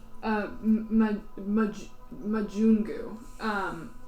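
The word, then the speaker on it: majungu: this creature that you would recognize as a Mugu um Mugu yes it is sort of like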